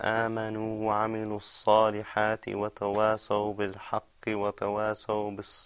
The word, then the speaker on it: تواصوا: Tawasaw. Okay. Now the way to help you, that was right. Just remember now to purse your lips when you pronounce the sod sound.